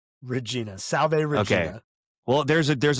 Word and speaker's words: Regina: Regina Salv well there's a there's a city in in Saskatoon in Canada spelled the same way but it's pronounced Regina.